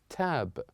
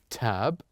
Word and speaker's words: tab: When we listen to the letter A, it's very short, tab.